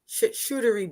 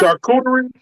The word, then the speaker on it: charcuterie: What's the hardest word for you to pronounce? Oh, that damn shootery board. Shootery shit board. The damn charcuterie.